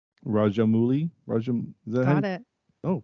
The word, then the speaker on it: Rajamouli: Rajamouli. Is that Got it. Oh, cool. I mean, I think it's. I don't think the oo is pronounced as an oo. I think it's an ow.